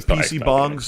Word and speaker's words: PC bang: So PC bong is it's spelled for us over in the UK or America as PC bang, but they're these internet